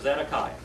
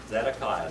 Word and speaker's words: Zedekiah: Then we have Zedekiah. Zedekiah, number 20.